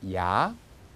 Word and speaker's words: Я: 33번은 영어의 R자를 또 뒤집어 놓은 형태입니다. 그것이 러시아에서는 자음이고 명칭은 야, 소리도 야 이렇게 납니다.